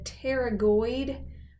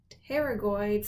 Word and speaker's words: pterygoid: Find that optic canal and then grab hold of those pterygoid, spelled with a silent P, processes.